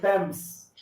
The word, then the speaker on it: Thames: Thames, there you go. Yeah, oo. Thames. Oo nga pala kasi British, no? Hindi. Oo, parang basa ko Thames. Pag narinig ko sa iba, parang hindi Thames. Right, Thames.